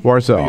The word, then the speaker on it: Warzel: uh actresses Charlie war warzel from if I pronounce that correctly Charlie warzel warzel okay thank you from BuzzFeed will be joining